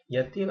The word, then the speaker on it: y a-t-il: Kemudian untuk yatil di sini ditambahkan t itu karena agar pembunyian saja. Yatil, kalau enggak ini kan susah dibunyikan ya, diucapkan. Yail, jadi ditambahkan t, yatil.